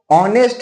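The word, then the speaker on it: honest: लेकिन नहीं वो ऑनेस्ट है। उसको हम लोग उच्चारण ओ से करते हैं। उसको साउंड ओ है इसलिए एन लगता है।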